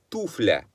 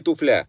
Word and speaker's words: туфля: туфли в единственном числе правильно говорить туфля туфля не туфля с ударением на первый слог а в родительном падеже